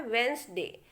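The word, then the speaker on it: Wednesday: वेडनेसडे नहीं बोला जाता, ये होता है वेंसडे। तो यहाँ पे डी को हमें नहीं बोलना होता है।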